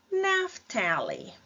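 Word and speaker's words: Naphtali: é o naftali né naft E aí o PH com som de F naft depois nós temos gad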